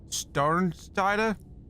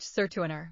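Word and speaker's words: Sertürner: Friedrich Starnsteiner? Please tell me, correct the pronunciation. Friedrich Sertuiner. Thank you.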